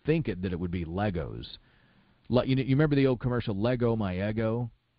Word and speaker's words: LEGO: I believe it's Legos, but I don't know that for sure. I believe there it was pronounced Legos, Lay, L-A-Y-G-O-S. Yes, it's interesting.